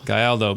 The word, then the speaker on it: Gayaldo: Gayaldo. Gayaldo. I even tried spelling it out phonetically and I did it wrong.